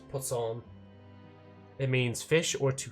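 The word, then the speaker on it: poisson: That's so ridiculous cuz that's just how it's pronounced in French. Pson it means fish or to fish.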